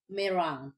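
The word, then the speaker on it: meringue: So ito yung merang si merenge sa atin sa kanila daw merang correct pronunciation is mirang right babe yes so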